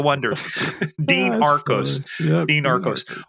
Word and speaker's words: Oneders: But the band's name was spelled Oneder for the Wonders, the Wonders. And everybody kept pronouncing it the Oneders. Here they are, the Oneders. The Wonders.